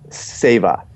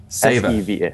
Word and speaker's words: Seva: Seva. S-E-V-A.